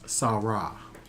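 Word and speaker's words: סרה: That's this word here, 56:27, which is Sarah. Not to be confused with the wife of Abraham. That's a Samic and not a Sheen. Okay? It's phonetically the same, but it's different.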